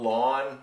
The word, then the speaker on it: ln: the difference between this this is called lawn like you know lawn your grass l-a-w-n it's pronounced that's how it's pronounced okay it's your lon button so your log